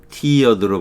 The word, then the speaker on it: tiered: 타이어드가 아니고 요거는 뭐로 발음한다? 티어드로 발음한다는 거예요. 티어드.